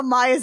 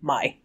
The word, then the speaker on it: Mai: You know, I think I'm actually pronouncing it Mai, and I think it's actually May in the cartoon. Don't at me. Let's be honest here, How I Became Yours definitely pronounces it as Mai.